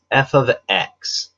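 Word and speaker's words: f(x): It's this f of x that's written right here. Now this is not f times x. Notice the pronunciation that I used.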